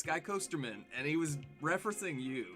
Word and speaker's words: Skycoasterman: stream, because, you know, everybody says it's Skycoasterman, like it's 2 words, but you say it like I'm Jewish, like Goldman. You say Skycoasterman, and everybody gets a kick out of that.